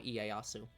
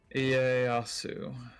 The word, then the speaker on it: Ieyasu: It's Tokugawa Ieyasu. I'm butchering everything. Turn Edo. Look, it's not your fault that you have to pronounce the I-E-Y as Ie. Ieyasu.